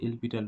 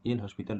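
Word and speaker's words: L'Hôpital: এই যে রুলটা, এই রুলটা হচ্ছে এলপিটাল রুল বা এল হসপিটাল রুল, এলপিটাল রুল বা এল হসপিটাল রুল, হ্যাঁ। তো উচ্চারণটা এলপিটার হয়, কিন্তু দেখো লেখার সুবিধার্থে এল হসপিটাল তুমি উচ্চারণ করতে পারো।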